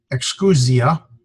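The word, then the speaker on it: exousia: Excusia, the emphasis is here, so it's excusia, and then there's a genitive form, excusias, hey, and that's how we'd see it in the lexical form.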